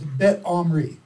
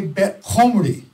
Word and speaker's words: Bet Omri: Israel was called by the Assyrians Bet Omri. Everyone say Bet Omri. Bet Omri. Now say it like an Assyrian. No, that's an English person. An Assyrian can't say Omri. Right. So they say Bet Komri.